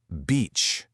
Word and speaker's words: beach: The word is beach. you absolutely need that long e sound we just practiced because if you use